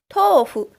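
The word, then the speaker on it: とうふ: Not tofu, it's tofu. Tofu. Well, this is a very basic concept, but let me still explain this. When a O sound combines with an U sound, like here, to, it's a O sound.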